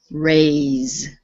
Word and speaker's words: raise: race voiceless okay now this is one of those crazy english words where the s e sounds like a z instead of an s so this is raise raise okay it's voiced yes